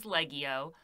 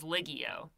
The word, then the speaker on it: Leggio: on television in 1989, he confirmed the correct pronunciation of his surname, and it was Leggio. But he also said that he was really pleased that people thought that his name was Ligio.